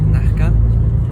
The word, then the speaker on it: Nazca: Co ciekawe, Peruwieńczycy wymawiają to Z i S jako nieme, dlatego wymawiają to jako Nazca, a Cusco wymawiają jako Cusco.